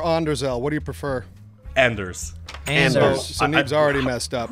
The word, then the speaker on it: AnderZEL: it andelle or Andel what do you prefer Anders Anders so's already messed up well I was